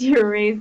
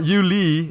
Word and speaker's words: Yuri: Actually, it's pronounced Yuri. It's not pronounced as it's spelled. So it's not Yuli, it's just Yuri.